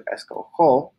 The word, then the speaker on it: escojo: But if you just add the O, the G-O makes a go sound, so we would pronounce this go, but we want to pronounce it jo. So we change the G to a J.